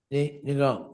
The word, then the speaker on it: Ng: No, they pronounce that for us. That could be pronounced no.